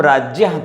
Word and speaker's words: राज्ञः: वैसे सामान्य प्रचलन में राज्ञः का ही प्रयोग करते हैं लोग, राज्ञः कहते हैं, लेकिन हम राज्यः कहते हैं।